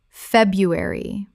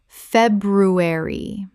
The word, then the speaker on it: February: Word two, February. Common mispronunciation, Feb-ru-ary. Correct pronunciation February The first R is silent in natural spoken English.